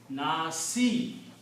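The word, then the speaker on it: النَّاس: If you stop at the ayat, you do not pronounce the harakat of the last letter. So Sin, has a kasra. Nasi. Do not pronounce kasra. Stop at sin. Nas. Qul a'udhu bi rabbin nas. Stop there.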